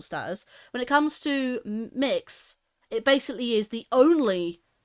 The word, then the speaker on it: Mx: could give you is mix AKA MX it pronounced mix um so instead of